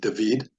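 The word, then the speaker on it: דוד: My name is David, so in Hebrew, my name would be pronounced David. You have a dalet in the name David, you have a vav, and you have another dalet, David. It's just the vowels are slightly different.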